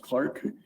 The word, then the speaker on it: clerk: Department, the mayor and clerk, sometimes pronounced Clark, be authorized to execute